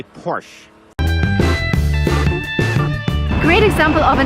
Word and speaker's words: Porsche: it's a german name the stress goes to the first part of the word and we say porsche remember never say porsche never never and don't